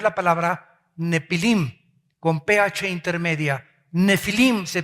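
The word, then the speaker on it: נפילים: Nefilim se pronuncia.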